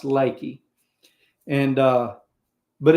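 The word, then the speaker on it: Leakey: L E A K E Y but it's pronounced Lakey and uh but it's over it's almost west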